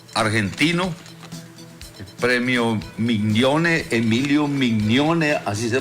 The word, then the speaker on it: Mignone: gobierno y pueblo argentino, el premio Mignone, Emilio Mignone, así se pronuncia.